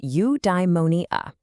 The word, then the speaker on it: eudaimonia: It's pronounced eudaimonia.